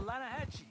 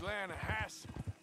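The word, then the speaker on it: Lannahechee: You mean the Lanahatchee River? No. The Lanahatchee. It runs right near here. Yeah, but it's pronounced Lanahatchee.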